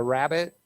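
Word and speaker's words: rabbet: the sash frame or this is actually called a rabbit is the term for the the P the the way the wood shape for the glass to go in it's spelled r-a-b-b-e-t though not right it and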